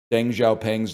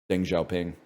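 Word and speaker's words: Deng Xiaoping: and I was like I pronounced Deng Xiaopang's name wrong and like all the other kids in the class I say other kids as if I was a kid. I was the teacher. All the kids in the class laughed at me and I was like why are you laughing? And they're like it's pronounced Deng Xiaoing.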